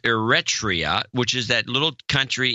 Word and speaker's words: Eritrea: It's pronounced Eritrea. That's the way it's pronounced. I've always pronounced it that way, and I've been disturbed by all these mispronunciations I've been hearing on the media.